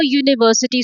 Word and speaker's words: university: So in umbrella u is sounds like a vowel but in university it sounds like u the consonant u.